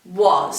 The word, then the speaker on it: was: If we were using our phonics, it might look like this, was. But that's not right, is it? It's spelt with a W, an A and an S, was.